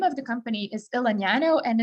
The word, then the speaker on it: Elegnano: of the company is el nino and it's literally a combination of the words elegance and nanotechnology smashed together and then pronounced the italian way uh both because i